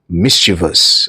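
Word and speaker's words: mischievous: আমাদের উচ্চারণের ত্রুটি থাকে আমরা বলি মিভিস ভিস এর জন্য আমাদের মাথায় ঢুকে থাকে যে আইটা বোধয় আছে একচুয়ালি আইটা কিন্তু নেই আই ওখানে ভুল ভুল ভাবে দেওয়া আছে actually pronunciation M আই এস সি এইচ আই ই ভি ও ইউ এস মিসভাস ওকে সুতরাং বি হবে ইনকারেক্ট আসার মনে রেখো তিনটে সিলেবেল আছে মিসভিয়াসে মিসভাস কোন আই নেই এরকমই কাজের ভিডিও পেতে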